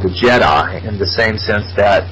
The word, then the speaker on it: djed: she told me of this thing called the Jed pillar and it's spelled djed it's where the word Jedi comes